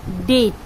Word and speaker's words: debt: দেনা ডেট বানানটা আমরা লিখছি DEBT, কিন্তু উচ্চারণ হচ্ছে ডেট। বি এর উচ্চারণ হচ্ছে না।